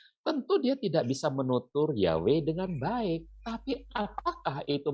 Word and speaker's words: Yahweh: ini kalau nggak ada kalau dibunyikan kan jadi Yahweh gitu ya Wei gitu ya Nah